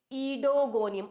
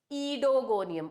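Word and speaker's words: Oedogonium: ओ ई डी ओ जी ओ एन आई यू एम यह तो है spelling इडोगोनियम ओ ईडो मत बना देना इसको। What is इट? इडोगोनियम ओ इ साइलेंट हियर।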